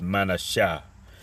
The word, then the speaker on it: Manasseh: And like I said, I don't know if I pronounced it, but in the Hebrew, Manasseh is Manasha, which means made to forget.